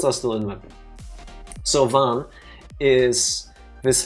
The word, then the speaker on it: Vaan: Vaan, V-A-A-N, Vaan.